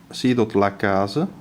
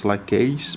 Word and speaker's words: Lacase: Lacase. You can see, you Americans may want probably to pronounce it as Lacase, but in French it will be rather Lacase.